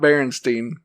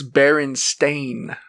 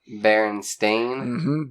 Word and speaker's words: Berenstain: that wrong yeah probably it's not it's not berenstein really nope it's baron stain berenstain b-r-e-n-s-t-a-i and stain bears berenstain bears dance thing yeah everybody thinks it's bernstein all right uh curious